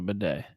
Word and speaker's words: bidet: It's spelled bidet, but we'll call it a bidet.